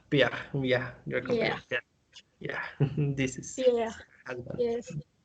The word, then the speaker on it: Pierre: This is Pierre. husband. Yes. A clue in French, always the last letter, they don't pronounce the last letters.